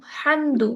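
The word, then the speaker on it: حمد: মাশাআল্লাহ রাজুয়া, তোমার উচ্চারণ সুন্দর। ঠিক আছে। আহ তুমি যেটা বলছিলাম, এখানে আলহামদু, হামদু, হামদ, হামদ, হামদুন, এখানে যে হাটা ব্যবহার করা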